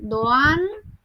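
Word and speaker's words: Doğan: Pra, emrat janë "Dooan" dhe "Chaala". Kështu shqiptohen këto emra në spanjisht.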